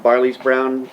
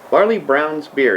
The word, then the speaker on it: Barley Brown's: truck pale ale from barley's brown barley's brown barley browns beer is how you say that barley browns beer hand